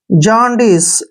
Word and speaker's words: jaundice: देखिए जे का उच्चारण हम ज करते हैं और AU को ओ पढ़ते हैं, ओ ऐसे। एन का उच्चारण न करेंगे, ठीक है, और डी का उच्चारण हम जो है ड करेंगे और आई को ई की मात्रा लिखेंगे। CE का उच्चारण श करते हैं। जॉन्डिस ऐसे पढ़ना है, जॉन्डिस।